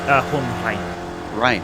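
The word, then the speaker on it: Hohenrain: Hohenrhein.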